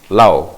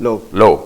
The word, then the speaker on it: Low: But before we get there, I think Minister Paul Lau, or Low, how do you pronounce that? Low, Paul Low, was reported in one of the